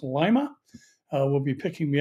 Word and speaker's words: Lima: of Calvary Chapel and I've told it's pronounced Lima uh will be picking